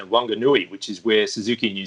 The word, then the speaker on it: Wanganui: And on the west coast of the North Island, Wanganui is pronounced with the w, as in whistle, rather than the f sound.